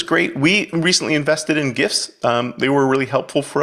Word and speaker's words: GIF: And for half your audience that is thinking I'm pronouncing it wrong, no, I'm not. It's GIFs.